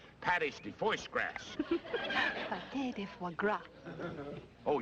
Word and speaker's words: pâté de foie gras: It's called pâté de foie gras. Pâté de foie gras. Oh, yeah, that's how they pronounce that.